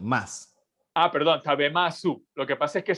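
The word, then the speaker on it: 食べます: Pero es una U como tragada. Tabemasu, te gozaimasu, ikimasu, su. Es como una U, así como tragada, ¿no? Pero normalmente se dice tabemas. Aunque se escribe masu, se pronuncia normalmente tabemas.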